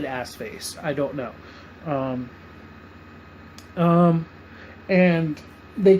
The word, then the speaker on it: Arseface: His name is I'm sure his name is Assface, but Cassidy gives him that name.